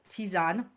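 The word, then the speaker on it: tisane: In French, we refer to them as tisan. And that's a a word you actually see in the US as well in some like food publication. So it's spelled t i s a n e.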